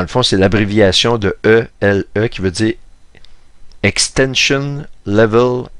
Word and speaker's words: Élie: en anglais elijob et il appelle Élie ele ça se prononce comme il lit comme le prophète Élie comme Elijah ici c'est